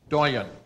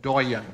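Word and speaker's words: doyenne: a diplomatic core the Doan this must come from French considering the last pronunciation French cuz this one's as good as spelled Doan or D h d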